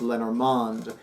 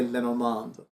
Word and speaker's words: Lenormand: I've lost count of how many times I have conducted a reading where I have combined tarot with Lenormand, with playing cards, with Kipper, with an oracle card deck.